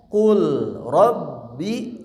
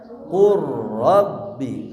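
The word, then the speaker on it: قل رب: Berarti bacanya asalnya qul rabbi, jadi bacanya dileburkan qur rabbi.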